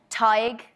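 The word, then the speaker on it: Tadhg: Does anyone know how to pronounce that in the audience? How? Tig.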